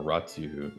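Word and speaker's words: Ratiu: How an international elite is taking over and destroying Europe, America and the world by Romanian author Yo Yoan Ratu or Ratu is spelled R A T IU.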